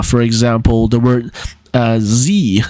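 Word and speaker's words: Sie: So, Z, for example, the word Z, spelled S-I-E, but it's pronounced with an English Z sound.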